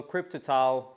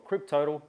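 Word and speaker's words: Kryptotal: here we have the Continental crypto tile or cryptal depending on how you want to pronounce it front specific in the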